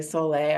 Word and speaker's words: Sole: It looks like soul, but it's say Soleil. I'm not even sure if there's an accent on the E, but that's how it is.